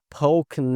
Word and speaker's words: poking: Novamente a gente não pronuncia esse G aqui, fazemos esse link, poking around.